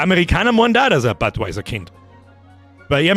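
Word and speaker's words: Budweiser: Badweiser wird Deutsch ausgesprochen der Englisch n meinst du butweiser man butweiser sagen muss Kirschmichel gute Nachspein tüskie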